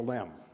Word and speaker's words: LM: design and build the lamb apparently the word excursion was regarded by some as sounding too much like a holiday and was deleted from the designation lam was still pronounced the same way but its acronym was